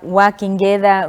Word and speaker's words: Uakengeza: It's actually Uakengeza. Uakengeza. Yeah. Why do you pronounce it like that?